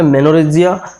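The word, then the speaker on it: menorrhagia: यहां पे मेनोरजिया। एक्चुअल में इसका प्रोनाउंस अलग-अलग होता है। मेनोरेजिया बोलते हैं वैसे तो तो मेनोरेजिया का मतलब होता है दोस्तों हैवी ब्लीडिंग।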